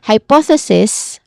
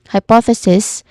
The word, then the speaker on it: hypothesis: Hypothesis hypothesis with a hissing sound at the end and a short e vowel sound before that is the singular form of this word.